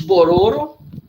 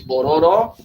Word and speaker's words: Bororo: são os cadwell os bororo antigamente chamada de Bororó é hoje perdeu o acento do último oh E aí a cebola sílaba forte ficar no meio não é puro e